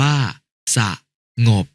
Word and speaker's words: สงบ: ลิง ว แหวน เช่น คำ ว่า สงบ อ่าน ว่า สงบ สนุก อ่าน ว่า สะนุก